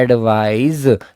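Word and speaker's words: advise: तो बेटा ये है एडवाइस, से लगता है इसमें, और ये है एडवाइज, इसमें जय लगता है।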